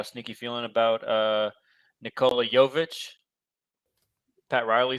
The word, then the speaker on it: Jovic: Jovic. Jovic. Spelled the same, isn't it? No, V-I-C.